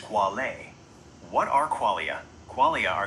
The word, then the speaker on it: quale: The core philosophical concept you asked about is qualia, singular quale, pronounced quale.